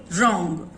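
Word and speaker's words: wrong: Right, whole, रॉन्ग। सो W sound is silent there.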